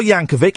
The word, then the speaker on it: Yankovic: We've got Weird Al Yankovic. It's a hard C at the end.